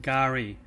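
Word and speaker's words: K'gari: is officially now called gari the ABD term for the island and the term means Paradise in the Aboriginal native language the K is silent gar is the world's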